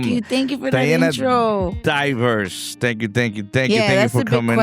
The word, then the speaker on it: Dayverse: I I kept saying Devers and you were always getting mad at me because I wasn't pronouncing it right. But, is it Devers or Divers? It's Divers or Diana and the Universe and because we keep